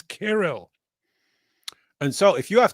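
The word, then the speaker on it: Cyril: Yeah, I hate to do this and I hate to do this to you, but the correct pronunciation of it is not serial, it's carol.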